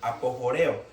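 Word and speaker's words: ἀποχωρέω: Esa palabra apartar viene del griego apojoreo, así como suena, apojoreo, con J. Apojoreo con acento en la E.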